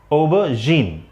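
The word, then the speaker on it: aubergine: अब ये एक वर्ड है, जैसे इसका प्रोनाउंसिएशन होता है ओबरजीन।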